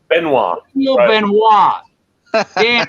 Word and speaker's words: Benoit: Yeah, Benoit is the French pronunciation of it.